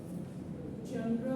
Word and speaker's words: genre: Genre means, this is maybe a new word for you. Major genre, the branches of literature. Clear to you? The spelling is G-E-N-R-E-S, but the pronunciation is genre.